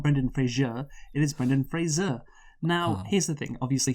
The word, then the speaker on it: Fraser: Brendan Fraser. Yes, implying the last syllable like the TV show.